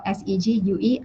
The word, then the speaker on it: segue: sorry s AG ue it's felt se gue and it's pronounced segue so I wouldn't have